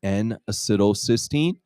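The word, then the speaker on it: N-acetylcysteine: add this ingredient right here so this is pronounced n acetylcysteine or we call it knack for short NAC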